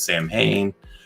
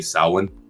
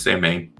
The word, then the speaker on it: Samhain: or what, some people might know in as Samhain. Actually, it's not the way you pronounce it. It's actually Samhain.